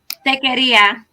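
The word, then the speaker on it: taqueria: Tequeritas? How do I say it? Stephanie, tell me. Tequeria. Tequeria. Okay.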